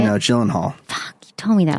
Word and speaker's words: Gyllenhaal: I thought it was great with Maggie Gyllenhaal. Is that how you say it? No, Gyllenhaal.